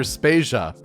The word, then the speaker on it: Spasia: Vader and I'm spasia we're brought to you by Anonymous dinosaur and rhymes with Asia it's time to appreciate